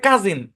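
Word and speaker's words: cousin: এই শব্দের উচ্চারণ হচ্ছে কাজিন, পড়াইছি। হ্যাঁ, সি, ও এবং ইউ, খেয়াল করেন, ও এবং ইউ এর উচ্চারণ ও হয়, আবার আও হয়, আবার আ হয়, আবার উ হয়। এর কিন্তু একাধিক সাউন্ড আছে, রাইট? বেশ কিছু শব্দ আছে যে শব্দগুলোতে ও এবং ইউ এর উচ্চারণ আ হয়, তার মধ্যে একটা হচ্ছে কাজিন।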